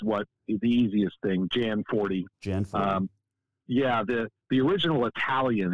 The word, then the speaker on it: Gianforte: to ask so your facebook says it's pronounced john forte what's the correct pronunciation of your last name so the americanization of it is uh jan 40 which is what is the easiest thing jan 40.